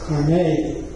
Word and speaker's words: Carnegie: 1954 College, to replace the old, and it's pronounced Carnegie.